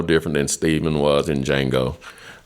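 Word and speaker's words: Django: than Steven was in D Jango uh is silent uh or that big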